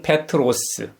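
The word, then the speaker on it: Πέτρος: 우리에게 잘 알려져 있는 베드로는 그리스식 이름입니다. 발음은 페트로스.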